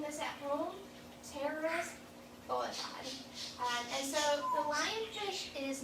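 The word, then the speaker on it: Pterois volitans: So their scientific name is Pteris volaton. So it does start with a P actually, just like pterodactyl, that P is silent.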